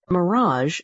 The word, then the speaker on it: mirage: Mirage is pronounced mirage, said Valancy shortly, picking up her tea and her beans.